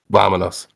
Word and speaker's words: vámonos: It's vámonos.